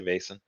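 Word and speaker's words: Vaesen: how you say it some people say it Boston some say Basin um uh bottom say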